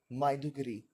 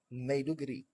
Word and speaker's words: Maiduguri: I learned that it's not Bonu, it's Borno, and I also learned it's not Maiduguri, it's Maiduguri.